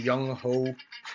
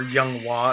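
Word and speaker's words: Younghoe: Honorable mention, Young Ho, or Young Wah as it's pronounced.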